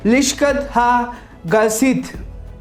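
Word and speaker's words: לשכת הגזית: Hall of haven stone, जिसका pronunciation है लिश्कत हा गसित, ये इब्रानी भाषा में है।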